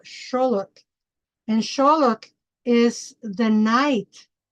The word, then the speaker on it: Xolotl: people say axolotl, which is not how you pronounce it, is a Xolotl. And the deity is called Xolotl.